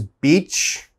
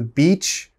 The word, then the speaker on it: beach: to say sheet sheet the next word is beach okay you want to go to the beach to enjoy your vacation a lot of my